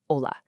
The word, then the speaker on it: hola: It just has its own little bit of music, like the NE sound, or the silent H you find in words like hola.